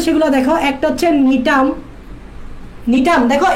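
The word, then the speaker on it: Gnetum: একটা হচ্ছে নিটাম, নিটাম দেখো এখানে আমি জিটা উচ্চারণ করি নেই, তবে লেখার সময় জি আসবে, উচ্চারণ করার সময় জি বলবা না, বলবা নিটাম।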